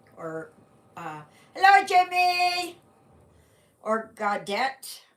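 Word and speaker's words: Gaudete: uh hello Jimmy or godette I think that that's how it's pronounced godat in Latin Sunday so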